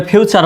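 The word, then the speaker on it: future: গেল কি লেকচ চার একইভাবে ফিউচার বানান এফ ইউ টি ইউ আর ই এফ ইউ তে হলো ফিউ আর শব্দ শেষে টি ইউ আর ই থাকলে কি হয় চার হয় তাহলে কি হলো এফ ইউ ফিউ টি ইউ আর ই চার ফিউ চার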